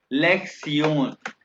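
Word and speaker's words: Lektion: ठीक है, तो ये जो है ना लेक्शन लिखा हुआ है, ये TION को प्रोनाउंस करते हैं सियोन। लेक्सियोन, लेक्सियन वन है ये।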